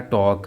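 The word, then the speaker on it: talk: और वर्ड है टॉक। यहाँ भी एल के बाद के आ रहा है, तो यहाँ पे एल साइलेंट होगा।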